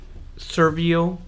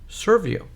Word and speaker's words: Serviio: to video number one in the series of servio media stream server um let's go ahead and